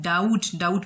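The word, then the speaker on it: doubt: for example देखें school, तो school में एच साइलेंट है, डाउट में बी साइलेंट है, स्वोर्ड इसमें डब्ल्यू साइलेंट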